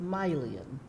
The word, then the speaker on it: Mylion: My first name is spelled Mylion, and it's pronounced Mylion. It looks like My Lion in print, but it's one of those created names that mothers often put together for their children.